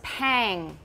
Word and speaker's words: pang: So, this one was pang. Rhymes with bang.